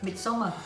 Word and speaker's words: Midsommar: How do you pronounce it? Midsommar. Yeah. But it's Swedish.